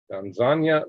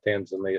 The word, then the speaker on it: Tanzania: Tanzania, nothing. That's the way you pronounce it, not Tanzania, it's Tanzania. Philippines got some earthquakes.